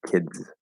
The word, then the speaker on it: kids: d in the word kids know that the s is a z sound here it's not kids it's kids um so we have